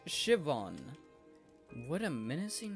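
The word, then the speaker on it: Siobhan: mouth drawing room what about this so sobin so behan it's pronounced Shivan what a menacing name says here that she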